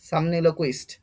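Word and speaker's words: somniloquist: দেখো এটার প্রনান্সিয়েশন কি হবে সমনিল ও কুইস্ট সামনিল কুইস্ট আচ্ছা সমনিল কুইস্ট এই ওয়ার্ডটা আসছে সমনাস আর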